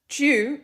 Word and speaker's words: due: anti-semitic um in reality Jew is the way that the word d-u-e is pronounced in Australia not the whole country but most of it or a lot of it at least we even say Mountain